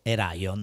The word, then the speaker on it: Herajon: come abbiamo detto prima Dipende come la come la vogliamo come la vogliamo pronunciare sta sta parola era io no E ryon archeologicamente forse più corretto erayon No invece la nostra comunemente chiamata qui a Paestum l'erarion gruppo sportivo aereo la